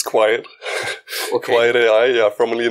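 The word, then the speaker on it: Qwiet: I don't know how to pronounce it. It's Quiet.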